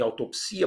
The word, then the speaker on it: autopsia: E eu coloquei a legendinha acordo depois da palavra em autopsia, porque ela veio com um acordo.